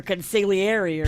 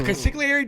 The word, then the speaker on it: consigliere: That's when you need to call your consigliere. He did. Remember he strangled the one. He didn't know what he did. And he's like, I don't know what I did. And they help him. Ooh. The consigliere does help.